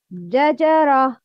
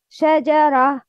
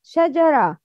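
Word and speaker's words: شجرة: Jajara. The second one, Shajara. Which one is right? The second one, Shajara.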